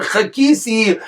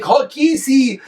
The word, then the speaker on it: chakisi: he said the word chakisi, he would mispronounce the ches and the hey, and it would sound like hakisi, that you're hitting Hashem, and that's what he told him.